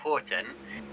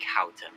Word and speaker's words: Houghton: what I was saying Horton is actually pronounced more like Houghton so apologies to uh to George Houghton there who I was